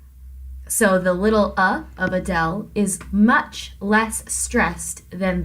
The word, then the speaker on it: Adele: singer Adele that's because we have an unstressed syllable first uh and then del is the stressed syllable if you were talking about the singer Adele you couldn't say Adele you have to say Adele so the little up